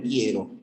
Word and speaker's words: quiero: te olvides de que la u no suena en quiero O sea no hay